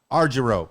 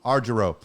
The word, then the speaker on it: Argyro: it one more time arjuro okay i know i'm hungry for euros that's what it is that's the point same thing arjuro you know the our